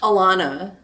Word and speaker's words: Alana: Alana. We're going to hit Alana. the A's very hard, like Chicago.